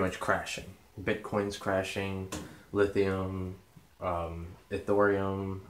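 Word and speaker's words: Ethereum: crashing bitcoins crashing lithium the thorium I believe that's what it's pronounced like litecoin ripple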